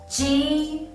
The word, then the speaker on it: g: in your mouth, and you need to lower your tongue quickly and let the air out to say G. When you pronounce G, the corners of your mouth will become wider, like you are smiling.